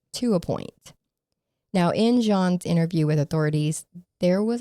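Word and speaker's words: Jeane: Now, her name of the woman that she made a friend with, it's spelled J E A N E, right? So, you would think her name was Jean or Gianne, something like that, but it's actually pronounced Jean.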